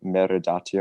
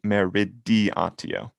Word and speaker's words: meridiatio: Is this the like meridatio or whatever it is? Yep. Did I say it correctly? Meridatio. Meridatio. Okay. Meridatio, final answer. That's incorrect. We need meridiatio.